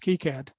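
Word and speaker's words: KiCad: presented on uh using ki-cad i've also heard it uh pronounced keycad which is a automation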